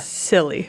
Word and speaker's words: Scilly: So, so let me just ask you, how would you pronounce the word SCILLY? Scylla. SC. LLY? SCLLY. Silly.